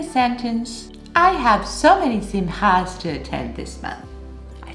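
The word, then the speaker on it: שמחה: And if you want to pronounce it right, it's Simcha. Simcha.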